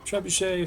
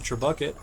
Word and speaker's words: trebuchet: Trebs stands for trebuchet, for those who didn't get it. Growing up, I actually called them trebucket, because I didn't know how they were pronounced.